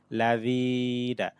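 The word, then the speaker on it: ٱلَّذِينَ: জের হিম, আলাইহিম, সিরাতাল্লাযিনা, জাল এখানে নরম হবে, জেরের পর জজমালা ইয়া টান হবে, লাযিনা, আনআমতা আলাইহিম, গয় নিয়া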